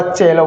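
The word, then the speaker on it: cello: तो इसका उच्चारण शैलव नहीं होगा साथियों। फिर क्या होगा? चेलव होगा।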